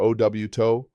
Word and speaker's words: auto: Car is coche or auto, pronounced koh-che or ow-to.